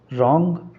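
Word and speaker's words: wrong: रॉन्ग यहां पे W silent है। डब्ल्यू को नहीं हम बोलते हैं। सिर्फ आर ओ एन जी को पढ़ते हैं।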